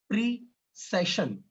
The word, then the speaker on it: precession: प्रीसेशन, ध्यान रखना, प्रिसीजन और प्रिसेशन ये दोनों चीजें एकदम अलग हैं, प्रोनाउंस करने में थोड़ी मिस्टेक होने की वजह से गड़बड़ हो जाता है मामला, तो प्रोनाउंस अच्छे से करना सीख लेना।